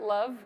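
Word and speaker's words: LOVB: we we started uh League one volleyball we pronounce it love kind of the acronym you get used to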